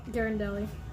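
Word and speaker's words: Ghirardelli: No, it's Garendelli.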